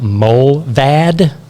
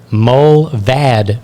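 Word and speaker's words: Mullvad: paid version but there's also another one called Mo vad and I'm assuming I'm pronouncing that right and that is spelled m-u-l-l-v-a-d it's Mike uniform lima lima Victor Alpha Delta mole vad VPN both mobile and proton are based in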